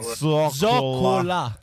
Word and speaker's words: zoccola: Allora, mo che l'ho risentito, ad onor del vero, è tipo un L e mezzo. Non sono proprio due L proprio precise, zoccola. Perché sembra un mezzo accento sulla, tipo Ornella zoccola. È a metà.